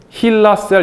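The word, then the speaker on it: HeLa: 그 이게 이게 잘함으로 해서 이거를 힐라셀 이렇게 이름을 붙였어요. 헬라. 고 힐라라고 이제 발음하는데 이게 헨리에타 렉스를 따서 이제 붙인 말인데 이거는 의생명 과학에서 가장 많이 쓰이는 실험용 세포주예요.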